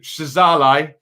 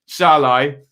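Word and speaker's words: Szalai: We'll give you a time sync as big Shazalai. Well, I'm not supposed to pronounce the Z, am I? Shalai up top holds the ball up straight away.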